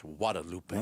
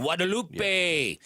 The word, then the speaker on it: Guadalupe: And I think I'm not supposed to pronounce the G. I think it's Guadalupe. Guadalupe.